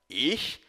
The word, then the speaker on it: ich: Vale lembrar que as letras CH no alemão têm o som de um chiado, como na palavra cachorro, porém pronunciado mais no fundo da garganta.